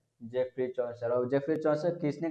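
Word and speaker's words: Geoffrey: लड़का बोला था इसको जियो फ्री, इसका प्रोनाउंसिएशन जियो फ्री नहीं है, जेफरी है, क्या है, जेफरी चौसर, तो जेफरी चौसर है।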